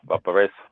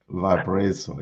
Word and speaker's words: Valparaiso: Valparaiso. Is that how you say it? Yeah, Valparaiso. Valparaiso, yes.